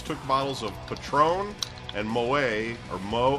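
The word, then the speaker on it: Moët: Police said the female suspect and 2 other males took bottles of Patron and Moet, or Mo, how do you say that?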